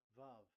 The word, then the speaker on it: vav: We called it as vav. Vav. Your claw your mouth is like closed. Vav. So it's V as in Vogue.